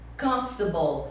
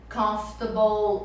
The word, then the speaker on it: comfortable: Então você tem unforgettable, comfortable, uncomfortable. Então aqui você não vai pronunciar table, apesar de estar essa palavra aqui. Então você vai dizer comfortable.